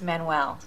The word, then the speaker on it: Manuel: His name is Manuel. That's pronounced Manuel. Tomato, tomato.